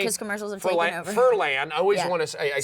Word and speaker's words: Furlan: Furlan. I always Yeah. want to say, I Say say it right. however you want. Furlan. Yep, Furlan.